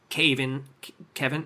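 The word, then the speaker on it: Kayvan: I think the guy that plays him, his name's Kevin. It's like Kevin, but it's spelled differently.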